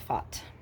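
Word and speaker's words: Fath: figure out how to it's not fast it looks like fat but I think they pronounce it fought yeah whatever French okay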